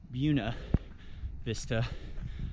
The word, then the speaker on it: Buena Vista: I know it's spelled Buena, good Vista, but heard the locals pronounce it Buena Vista, Colorado, I think.